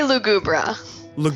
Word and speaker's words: Lugubra: I say Lugubra. So I think we got it pretty similar.